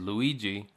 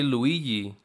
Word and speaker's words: Luigi: And when it comes to video games, people wouldn't usually pronounce Luigi as Luigi. They'd say Luigi, like with a Y instead of a G.